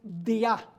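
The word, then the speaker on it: διά: Es la preposición dia en griego. Día de I a. En vez de tener el acento día en la i, tiene el acento en la a. Dia.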